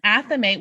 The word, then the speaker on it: athame: If you're if you're using a wand, you probably don't need an athame or Yeah. a thame. That's apparently another way to pronounce it.